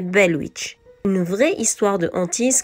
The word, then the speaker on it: Bell Witch: prononciation ni de quiproquo ce n'est pas Blair Witch mais belwitch une vraie histoire de